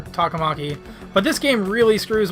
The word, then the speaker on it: Takamaki: calling her talking monkey I keep trying not to call her two comma K because like the game calls her two comma key and like I don't like that pronunciation it's not very indicative of like the proper pronunciation so I'm gonna call her taka Maki but this game